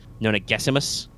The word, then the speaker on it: Nonagesimus: It's Gessimus in the text, but the pronunciation guide says Nona Gessimus.